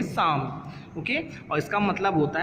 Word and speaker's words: Psalm: बेटा यहाँ पे ये वर्ड जो है साम, ये स्टार्ट तो पी से होता है, लेकिन यहाँ पर पी साइलेंट है, इसलिए इसको हम पढ़ेंगे साम।